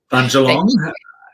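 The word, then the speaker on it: Bundjalung: you to say the name of the tribe, Budgerong. I'll get you to pronounce it. Bunjalong.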